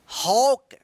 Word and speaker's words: hawk: यानी एक के जस्ट बाद अगर W आता है तो इस ए का क्या उच्चारण होगा, औ उच्चारण होगा।